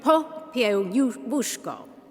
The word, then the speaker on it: Popiełuszko: Not New Jersey, please, but Jerzy, Jerzy Popiełuszko. Popiełuszko. That wuszko comes from the Polish L. A little line through the L is a W sound. So, Jerzy Popiełuszko.